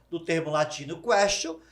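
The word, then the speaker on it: quaestio: Por que question? Porque question lembra questionar? Porque em latim se pronuncia questio.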